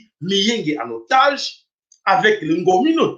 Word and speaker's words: Miyenge: Donc pour votre information que mboka auto bengi na kombo miyenge. Voilà, c'est comme ça qu'il faut prononcer cela.